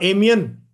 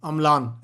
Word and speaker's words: Amlan: या एमियन, अमलान, sorry अमलान, एल है वो, हाँ अमलान।